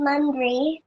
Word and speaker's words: Mandhri: My name is Mandri. Mandri? Mandri. Mandri. Yeah. Can you spell it for me?